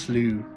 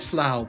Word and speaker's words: Slough: It's pronounced Slew. Slew of Despair. Okay, Slew of Despair. I call it Slough, but I'll say Slew.